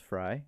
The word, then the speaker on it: Fry: Noah, you don't say like Frey, it's pronounced Fry.